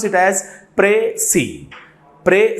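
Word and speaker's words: précis: should pronounce it as pre C pre C is the pronunciation of this particular word and the final s is silent here okay so what we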